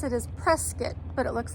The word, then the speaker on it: Prescott: the locals say in the correct way to pronounce it is presc but it looks like Prescott so that's why I call it that kind